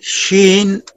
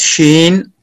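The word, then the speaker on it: شين: Ji, Sheen pronounced as Sheen, using middle of tongue to touch the middle part of palate.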